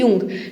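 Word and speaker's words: Jung: अब यंग्स इसको हम जंग प्रोनाउंस नहीं करेंगे।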